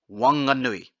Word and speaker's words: Whanganui: Wanganui. There's a reason why I pronounce this as W, and I'll explain after this.